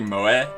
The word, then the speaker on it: moe: it's exceedingly it's mo it's pronounced like moe but like i like the